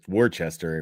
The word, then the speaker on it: Worcester: There's no H in Worcester. I know the H is silent.